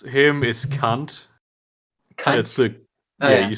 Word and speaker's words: Kant: pronounce him is cunt.